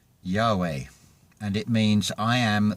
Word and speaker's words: Yahweh: Yahud Vehud is pronounced Yahweh, and it means I am that I am, and also the tetragrammaton.